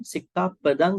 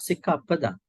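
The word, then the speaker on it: sikkhāpada: some people might say Sikka Padang Samadhiya. Sikka Padang, Padang, Padang, Padang. Actually, it should be not Sikka Padang. We call it Sikka Pada in Pali.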